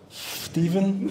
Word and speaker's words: Stephen: Stephen with a PH, I think it's pronounced Stephen.